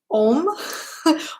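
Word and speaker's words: Ogham: I see some of you guys are asking about which I might be pronouncing this wrong, but it's actually spelled O-G-H-A-M, but I believe it's pronounced Om or Correct me if I'm wrong on this one.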